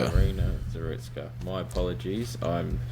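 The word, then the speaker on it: Iryna Zarutska: with the subway murder of how do you pronounce her name again? Ireina Zerutka. Arena Zerutska.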